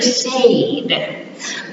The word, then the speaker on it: said: Years ago, it used to be pronounced differently, said. But through the years, we just got, so it's pronounced said, like your word in Spanish.